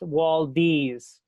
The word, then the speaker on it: Waldees: My last name is pronounced Waldees. Someone unknown decided the last syllable of my name rhymes with D's nuts.